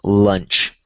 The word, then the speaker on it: lunch: So, this one is like launch and then the one that you eat is lunch. So, notice how the A and the the A with the U changes um when you have the A and the U as opposed to the U. So when it's just the u when you're eating it, it's called lunch like l. But then when you have l a u you have law launch.